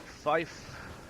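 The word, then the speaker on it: five: 5 is said like fife. Yep. Excuse me. Fife. F-I-F-E.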